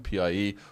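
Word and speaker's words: piě: And then pie with a third tone, P-I-E. Well, that's my bedroom. And pie, P-I-E, is pronounced like piede in foot in Italian and pie in Spanish.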